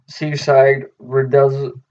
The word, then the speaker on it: Seaside Rendezvous: So the next song is Seaside Rendezvous.